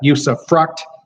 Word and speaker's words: usufruct: And so you've got usufruct, which some people mispronounce and throw the F word in there somehow.